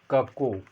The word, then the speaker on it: cuckoo: The title of the poem is also the कक्कू, किंवा याला आपण कुक्कू असं जरी म्हणलं तरीसुद्धा चालतं आहे.